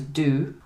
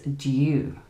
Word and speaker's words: due: It's the same with the word due. So in American English, they would use the oo sound. The paper is due, but in the British accent, we would use the U sound.